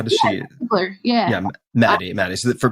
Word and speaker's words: Ziegler: And does she pronounce her last name Ziegler, or how does she? Ziegler, yeah.